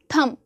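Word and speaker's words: thumb: Silent है। तो जितने भी लेटर्स हैं आपके थंब थंब नहीं बोलते हो।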